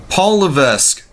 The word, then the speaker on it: Levesque: Heyman no less so Paul Levesque well they they they shortened me they silenced the S because the S is pronounced silently so it's really Levesque but Paul of us